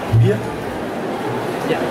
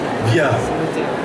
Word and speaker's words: Wiart: Viard. Viard. Sans le T. Sans le T. Et le W prononcé en V.